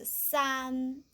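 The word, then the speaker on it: 三: We just, how to pronounce this? Pinyin, we just say san, but if we haven't learned pinyin, just like the English, or just say see, s. And an, just we say run.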